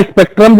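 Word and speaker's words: Spreadtrum: अब यहां पे स्पेक्ट्रम की स्पेलिंग जो होती है SPREDTRUM, बोला स्पेक्ट्रम जाता है, लिखा स्पेक्ट्रम जाता है।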